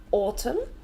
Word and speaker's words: autumn: should have a capital autumn so the N is silent and in America they